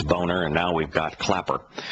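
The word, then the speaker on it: Boehner: we've got a a congressman named uh boner but it's uh it's uh phonetically it's boner and now we've got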